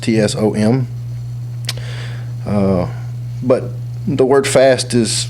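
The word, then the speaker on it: צום: 84 in the Hebrew it's it's own TS pronounced tsom but the word fast is rarely associated with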